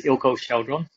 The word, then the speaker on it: Eelco Chaudron: before but i can't remember it yeah it's ilco sheldron ah thank you so uh we have plenty